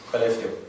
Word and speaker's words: Skellefteå: Skellefteå.